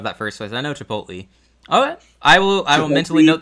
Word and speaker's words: Chipotle: Okay, so it's like Chipotle, but so much better. I don't know if that first place. I know Chipotle.